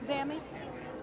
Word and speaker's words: ZAMI: You say it as Zammy, right? Zammy? Yeah. I just want to make sure I pronounced it correctly. Yes, Z-A-M-I.